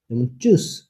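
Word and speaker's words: Tschüss: point উনু ঠে এস সে হা চর মত উচ্চারণ চুস চুস মানে বিদায় সে কে কয় মত ইয়াককে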